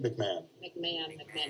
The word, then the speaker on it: McMahon: McMullen? McMahon. Even though it's spelled Yeah, yeah.